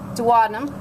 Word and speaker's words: duodenum: Duodenum or duodenum, your choice on pronunciation.